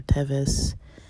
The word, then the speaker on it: Teves: And then it has the dates, the Hebrew date of, depending how you pronounce it, Tevet or Teves, 17.